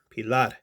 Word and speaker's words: Pilar: crkt pilar three pilad you have to say it like you're speaking spanish pilar um so anyways let's